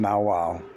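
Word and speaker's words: nagual: The nawal, pronounced nawal, was the name given to the animal into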